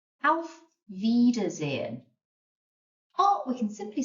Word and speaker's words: Auf: This one, AU, makes a kind of ow sound, ow, as if you've hurt yourself. Auf Wiedersehen.